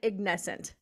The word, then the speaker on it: Ignescent: I pronouncing it right I pronounce it ignescent yeah you're right perfect about that okay